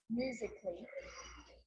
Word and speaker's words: musically: Now, the letter A can be silent, especially in words that end in A-L-L-Y, like these. Romantically, musically, logically. So I'm not pronouncing romantically, musically, and logically. Cut the A out. Get rid of it.